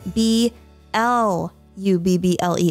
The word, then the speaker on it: blubble: how it is spelled it is b l u b b l e f l y yes blubble not bubble this is actually a